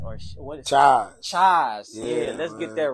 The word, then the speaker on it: Chise: Chise.